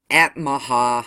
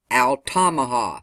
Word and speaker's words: Altamaha: and Volusia County line to the Atmaha. I know I probably said that wrong. Altamaha. There you go.